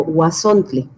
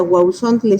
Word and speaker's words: Huauzontle: Y además del origen, creo que es importante, porque seguramente la duda será si es Huauzontle o Huazontle. Y lo más adecuado, en estricto sentido, sería Huauzontle.